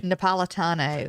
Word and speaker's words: Napolitano: yesterday surprisingly dropped judge what's his name again napolitano yeah and then you're saying it right i'm